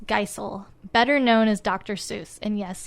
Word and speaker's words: Seuss: Seuss. And yes, he pronounces it Seuss, rhyming with voice.